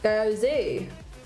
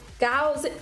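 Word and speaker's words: 餃子: In Cantonese, you say it phonetically like gyozi. Gaozi, like gaozi. So gyozi or gaozi.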